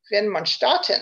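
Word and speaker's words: Widmanstätten: okay these are called windmin statin although if you're german as i was corrected the other day it's properly pronounced vin monstarten i hope i got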